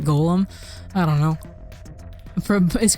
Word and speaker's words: Golem: is created by oh actually they always pronounce it golum maybe see like is that the like is that like the English pronunciation and then like Americans pronounce it Golem I don't know for